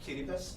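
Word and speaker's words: Kiribati: my country what's your country therapy yeah it's pronounced chilipas but the spelling is like k-i-r-i-b-a-t-i okay okay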